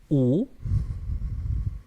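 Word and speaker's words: 古: Y este de aquí, el cual contiene el número 5 en chino y boca, se pronuncia u y significa antiguo.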